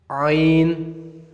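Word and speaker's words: غين: pronounce this letter is you make this letter sound from your throat rain rain rain rain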